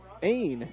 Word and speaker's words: Ain: to the plate here the pitcher ain is how it's pronounced aim like aim but with an n here's the pitch to